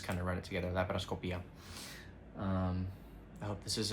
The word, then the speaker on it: laparoscopia: But in Spanish, we don't have, you know, silent vowels like that. Like that happens in English. You have to say laparoscopia.